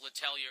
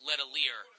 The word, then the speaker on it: Latell: for that game and I referred to Luke latell as Luke leier for the entire game I mispronounced PA kid